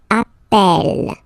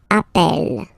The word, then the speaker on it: appel: form Double L so when you get this a vowel and then you get a double consonant and well they are the same then it does change the pronunciation of you tend to pronounce it like e e really open that's the reason why you pronounce it Appel Appel okay Appel Appel